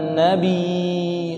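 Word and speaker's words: النَّبِيِّ: Khotib itu ketika dia membaca khutbah kedua, innallaha wa malaikatahu yusholluna 'alan nabi. Waduh. Ya di nabi itu bertasydid. Cara bacanya gimana? Shallu 'alan nabi. Nabi, ya, karena ya-nya bertasydid.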